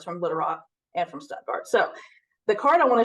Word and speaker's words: Stuttgart: Stuttgart Arkansas but being as we are we pronounce it Stuttgart so um I have two collecting interests myself